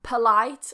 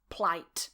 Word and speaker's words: polite: just very quickly sidetrack you may hear me saying polite and sometimes plight both have fine okay politeness politeness doesn't matter okay two different ways we just cut the syllable in one so politeness is one